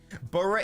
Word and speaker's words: Borough: Borough is definitely 2 syllables.